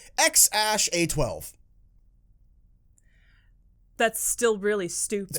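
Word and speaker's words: X Æ A-12: which i looked up how to pronounce is pronounced x-ash a-12 that's still really stupid pronounced x-ash a12 that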